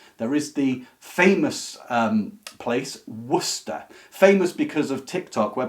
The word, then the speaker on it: Worcester: Most of our American cousins will look at it and think it's Worcester. And originally that's how it would have been pronounced, but through the unusual contraction that English does over time with everything, it became, instead of saying Worcester, it became Worcester.